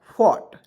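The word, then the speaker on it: fought: बिल्कुल ध्यान से देखेंगे एफ ओ यू जी एचटी तो क्या पढ़ेंगे दोस्तों फॉट क्या पढ़ेंगे दोस्तों फॉट एफ से होता है फ और ओ ओ यू जी एस टी तो इसमें ऑट के उच्चारण के रूप में पढ़ेंगे ठीक है तो यहां देखिए ट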